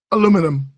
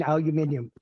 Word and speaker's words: aluminium: Aluminum. Look, I am totally accepted with with the pronunciation by non-US people of saying aluminium.